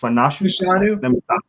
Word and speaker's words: Fashanu: Don't ask me how to say the rest of his name, but not Fanash. Fashanu? There you go.